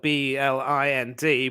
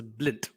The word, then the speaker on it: Blind: I mean his name is of course spelled b-l-i-n-d but he definitely has good footballing Vision does